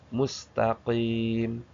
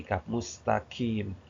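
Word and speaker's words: مستقيم: Sedangkan qof itu ke belakang. Mustaqim. Mustaqim ya. Mustaqim. Hati-hati ya. Jangan terlalu depan. Kalau terlalu ke depan dia jadi kaf mustaqim.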